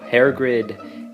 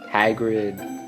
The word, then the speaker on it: Hagrid: No, Hairgrid, Hagrid. I can barely say his name right anymore.